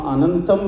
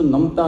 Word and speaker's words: Anantam: Now, thinking about Anantam, you know, Anantam is what people do. Everybody is used to Namta, Namta, Namta, but it's actually Ananta, Anantam, which is what we try to pronounce or sing when we do vocal.